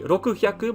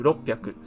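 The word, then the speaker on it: 六百: Like for example, with roku, if we want to say 600, it would not be rokuhyaku, but it would be merged together into roppyaku.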